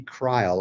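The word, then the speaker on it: Kreill: If you want to look up one in particular, look up Randy Krill, although it's spelled K-R-E-I.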